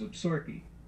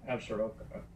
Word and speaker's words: Absaroka: or three pronunciations some people say the proper pronunciation is obserki or is it atsuroka or is it zaruka and we decided for